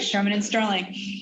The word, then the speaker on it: Shearman & Sterling: fintech at sherman sterling did i get that pronunciation right donna that's right sherman and sterling sherman and sterling very good so um what